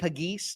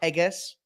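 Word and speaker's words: Pegues: a starter eventually Pages JJ pagis not pegas okay we're working on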